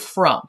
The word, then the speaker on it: from: Like in the irregular word from, for example, the unexpected part is the O saying uh since it's a closed syllable, we would expect it to say ah.